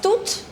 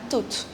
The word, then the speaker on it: toute: The pronunciation of the second and the fourth is same. That's toute and toute.